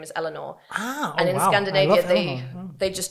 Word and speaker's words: Eleanor: She wanted a name that could be like not mispronounced, and she said like in Belgium people would say like Eleonore or something.